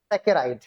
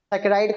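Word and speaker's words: saccharide: Spelling मैं coat कर दे रहा हूं। SA सैकराइड।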